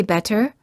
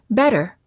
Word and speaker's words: better: it's between two vowels when a t is between two vowels it's generally pronounced like a fast D sound we don't say better we say better it also sounds the